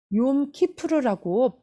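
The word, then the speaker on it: יום כיפור: 욤키푸르라고 발음할 때 어떤 사람은 욤키푸르에 대해서 얘기할 때 영어로요 욤을 얌이라고 하시는 분들이 계시는데요. 얌은 바다의 포효라는 뜻입니다. 그래서 얌키푸르라고 말씀하신다면 그날은 바다의 포효의 대속제일이라는 것을 뜻하기 때문에 욤이라는 단어를 이 발음하실 때 얌이라고 하지 않고 욤키푸르 또한 욤테루아 이렇게 발음하셔야 되는 거예요.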